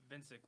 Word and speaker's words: Vincic: Vincic Williams, yeah, it's kind of hard to pronounce. Did I say that one more time? Vincic? Vincic, okay. Yep. So I said Visnik.